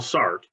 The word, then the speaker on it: Sartre: but one existential floss Jean-Paul sart or sometimes pronounced Sartre um thought that this